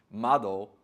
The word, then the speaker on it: Madoo: Now the brand is spelt Madoo, but we have confirmed that it is pronounced Madoo, which is the Japanese word for window.